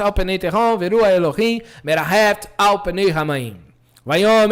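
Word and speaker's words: אֱלֹהִים: Por exemplo, aqui nós temos a expressão Elohim. Observe que não é Elohim. O H, o Re, não é mudo. Ele tem uma gutural leve. Elohim.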